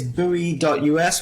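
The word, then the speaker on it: buoy.us: um yeah so everybody it's bowie.us which is spelt b u o y dot u s beautiful and even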